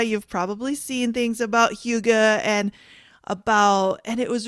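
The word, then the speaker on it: hygge: to pronounce it wrong it is not what I thought I thought it was Hai but it's Huga and Huga it's about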